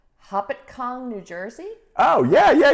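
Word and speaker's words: Hopatcong: is hard to say hoppet kong new jersey oh yeah yeah yeah that's that's north that's not far from where i grew up okay is that how you say it though hopticon ah okay uh we have a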